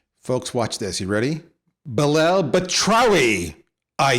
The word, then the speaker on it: Belal Batrawy: the attention war folks watch this you ready belle batrowi i said it right we're going to end